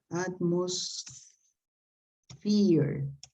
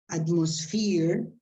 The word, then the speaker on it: atmosphere: general it was good some problems of pronunciation like atmosphere atmos fear atmosphere i wrote here a specific